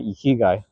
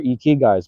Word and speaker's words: ikigai: You know, I did my ikigai. For those wondering, do your ikigais, man. Ikigai. That's the right way to say it in Japanese, I believe. Ikigai. Ikigai. I don't know if I'm saying that correctly, but I did that anyway.